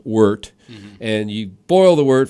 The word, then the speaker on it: wort: So basically, you cook the grain, you boil the wort, it's called. It's spelled wort, but it's pronounced wort.